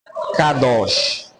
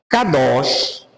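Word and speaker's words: קדוש: se dá para ler aí c cados vamos pronunciar kados kados pode ser traduzido de duas maneiras separado ou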